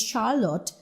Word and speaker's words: Charlotte: But when you have the feminine of Charles, that is Charlotte, see, you are using it as Sh.